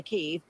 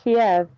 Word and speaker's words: Kyiv: Russia fires rockets into Kyiv, issue that challenge. Yeah. First of all, Kyiv, I'm pretty sure it's Kiev. It's not. It's Kyiv.